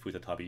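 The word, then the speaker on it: 再び: But that also can be pronounced futatabi.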